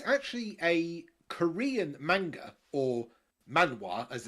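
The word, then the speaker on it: manhwa: one cuz it's actually a Korean manga or Mana as it's actually pronounced in Korean but it's animated by a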